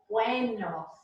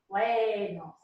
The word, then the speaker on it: buenos: The E is pronounced like a long A. So it is buenos, buenos.